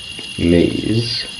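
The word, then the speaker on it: Meis: Like, for example, in the second playthrough of Maze, which I think is actually the way I spelled it, it's spelled mice, I think. Well, it's very similar to mice, how it sounds, I think.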